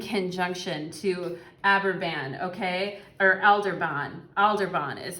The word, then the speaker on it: Aldebaran: Or Aldebaran is how you say it.